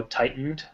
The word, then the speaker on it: tightened: word tightened tightened yeah a lot of people will soften the tea and go tightened but the t shouldn't be silenced tightened okay if you're